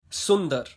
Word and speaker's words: सुंदर: Yes, so today I'm going to tell you how you can pronounce these hard words, and don't worry, I'm going to make it easier for you. Sundar, beautiful.